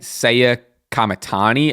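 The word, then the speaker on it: Saya Kamitani: Pretty recently, I just watched a I had to get the pronunciation right. Seiya Kamatani.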